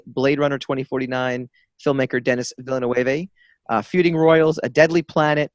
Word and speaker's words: Villeneuve: And for, I never can pronounce the director's last name. Villeneuve.